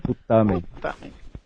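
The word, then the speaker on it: putâmen: Putamen. É o T, que é a sílaba tônica. Putamen.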